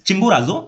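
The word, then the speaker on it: Chimborazo: study किया चिंबोराजो ठीक है थोड़ा डिफिकल्ट है प्रोनाउंस करने में इट्स चिंबोराजो माउंटेन इन इक्वाडोर ठीक है कहां पे है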